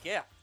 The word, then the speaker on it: GIF: Ooh, a gift. Unfortunately, I can't see. He has a gift for us. GIF. No, fuck off. It's pronounced gift.